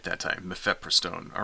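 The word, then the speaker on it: mifepristone: right and this is a drug called uh mefepristone right hey I pronounced it right that time mepheprostone all right so I told you I'd learned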